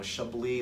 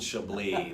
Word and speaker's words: Chablis: fabulous in there and they're pronouncing it wrong there's things Chambliss she'll let something go Chablis like the cheap wine its behold Chablis like the drag queen lady Chablis that's why you guys